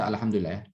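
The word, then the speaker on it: الحمد لله: alhamdulillah alhamdulillah alhamdulillah al-jadid sempurnakan dulu pengucapan halnya Al enggak boleh kita baca panjang terlama Dila menyisakan al-hamdu lele Alhamdulillah keliru kalau kita panjangin al-hamdu jadi road ya terlalu mengalir banget ya tidak ya tidak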